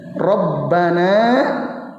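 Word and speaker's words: رَبَّنَا: dipendekin coba Perhatikan ya rabbana wakal hamdu ada yang panjang enggak ada yang panjang atau tidak ada mana pada kata apa yang panjang Rabbana Nah itu itu ya kalau kita bacanya benar Rabbana wakal hamdu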